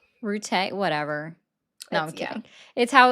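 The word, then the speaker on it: Rutte: Are you talking about Matt Root? Rute. Whatever. No, I'm kidding. Yeah. It's how he pronounces his name. That's the correct pronunciation.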